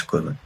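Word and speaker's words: 来る: তারপর এইটা হচ্ছে টান দিবেন, দেন কমপ্লিটটা হচ্ছে টান দিয়ে এই এই সাইডেরটা ওই সাইডেরটা দিয়ে হচ্ছে এটা লেখা শেষ করবেন।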